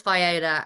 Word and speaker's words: Viola: It is Viola, and the people get it wrong here.